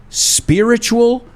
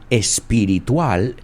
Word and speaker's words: spiritual: by its unusual religious, spiritual, or philosophical beliefs and rituals. So there's a lot of vocabulary right there. Unusual, poco normal, poco usual. Religious, Fijaos en la pronunciación. Spiritual, not espiritual, spiritual or philosophical beliefs.